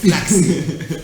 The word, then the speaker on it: Pflaxie: And the P is silent, by the way. So it's Pflaxie.